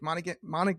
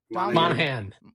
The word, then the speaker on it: Monaghan: He won an Emmy for revision Tomb Raider, directed Sir Ben Kingsley and Dominic Monaghan I I can never say his name. Help me out. Monaghan.